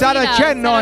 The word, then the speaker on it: Saraceno: They probably pronounce the name Saraceno, but it's Saraceno in Italian.